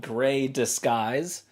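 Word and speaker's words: Grey Disguise: right here is called Gray disguise right gray disguise which phonetically sounds like gray skies that's their clap back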